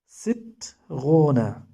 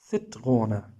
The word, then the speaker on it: Zitrone: Zitrone. Don't pronounce it like in English Z, zit. Not it is it. It sit. Zitrone.